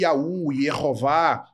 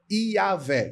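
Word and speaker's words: Yahweh: vav nós teríamos aí um segol que seria um equivalente a um e e é uma vogal curta Então para que haja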